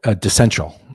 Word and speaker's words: DeCential: 'Cause I didn't know how to pronounce it. Yeah, DeCential.